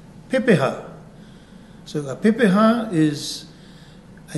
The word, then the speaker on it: pepeha: say with me P we break it into syllables P ha Pepa so a Pepa is